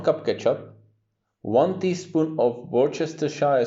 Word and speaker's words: Worcestershire: ketchup one teaspoon of worcestershire sauce yes that's the right way to pronounce it about a quarter cup